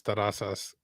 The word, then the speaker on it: Terrazas: In Spanish, the way it's pronounced is terrazas. People who pronounce it in English is terrazas.